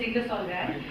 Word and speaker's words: Ingersoll Rand: I represent a company called Ingersoll Rand, and I know it's difficult to pronounce, and many people say, Intel and the others, but that is what it is. It's Ingersoll Rand.